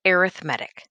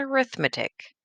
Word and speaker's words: arithmetic: So this word that I'm circling is pronounced arithmetic, not arithmetic.